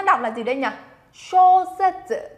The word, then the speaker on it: 小説: Các bạn nhớ nhá, cái âm shō này chúng ta đọc nặng lên một chút chứ đừng đọc nhầm thành âm shō. Âm shō này là sai nhá. Shōsetsu là sai. Shōsetsu, cong cái lưỡi lên.